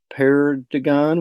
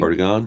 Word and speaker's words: perdigon: And the purple perdigon, which I can never pronounce correctly. Perdigon, yeah.